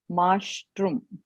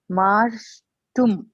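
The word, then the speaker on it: मार्ष्टुम्: Marjitum, Mashtrum. Say that again. Last one. Oh God. Marshtum. Marshtum. Yeah. There is no second ra. You are pronouncing the second ra, which is not there.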